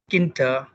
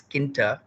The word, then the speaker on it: Tkinter: at what is uh tk enter or kinta t silent if i keep put t as silent because we can pronounce it as kinta so this particular thinter